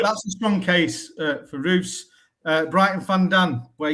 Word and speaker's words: Roose: So starting in net for Brighton, Verbrugan and Sunderland's Roose. Have I pronounced that right, Dan? Yeah, Robin Roose.